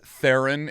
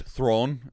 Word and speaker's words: Theron: battle passes ago that's like also a Charlie's Theron is actually Charlie's Throne is is how it is properly pronounced throne throne yeah but she also just